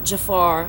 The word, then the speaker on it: Jophar: His first name is spelled Jophar, Jafar.